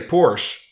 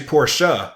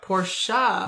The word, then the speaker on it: Porsche: 12 years ago or Simo is the correct pronunciation of Portia you know the car manufacturer question people say Porsche but it's actually Porsche Porsche you gotta say the shut oh yeah I